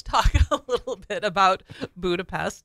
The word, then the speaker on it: Budapest: all right because we'll we pronounce the S sound s yeah but in Hungary they pronounce the S as an S that's just crazy so you will hear hungarians say budapes okay so if you